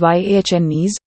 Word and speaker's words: Giannis: that is pronounced as yhnes with emphasis on the NS which acquire an elongated sound his last name is